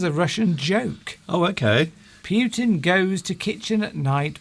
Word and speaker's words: Putin: Well, I quite admire Putin. It's He's a shame. strong It's leader. a shame you don't pronounce his name right. Okay, Putin then. That's Putin. better.